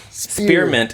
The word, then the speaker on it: spearmint: Like spearmint is a 2-syllable word, but everybody says it and makes it sound like a 3-syllable word, like spearmint.